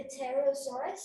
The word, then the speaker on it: pterosaur: i think it's the pterosaurus pterosaur the t is the p is quiet it's still silent right what the heck is